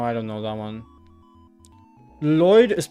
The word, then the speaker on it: Lloyd: Lloyd is pronounced with one L sound. So Lloyd. Lloyd, right?